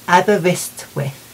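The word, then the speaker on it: Aberystwyth: the Welsh show um now I'm going to have to look over here to see how it's pronounced cuz I need to be able to do it properly and I've written it phonetically it's in abber wrist with so if you're listening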